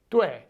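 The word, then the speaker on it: 对: Only later did I start to correct my pronunciation so that it sounded more like dui.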